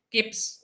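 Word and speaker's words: kip: LB Tuh kan pohon Tetapi kalau sudah jadi kilo bukan KLB bulan kilo ponsel tapi keep keep telepon ini 18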